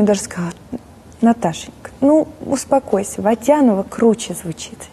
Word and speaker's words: Водянова: А, кстати, вот немножко я перескакиваю здесь по поводу ударений. Вы ведь Водянова, да, в оригинале, а не Водянова?